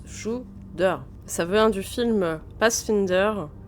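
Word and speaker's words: Tsjuder: Il se prononce Shudder.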